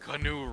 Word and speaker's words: Keanu: Pronounced CANOE REEVES.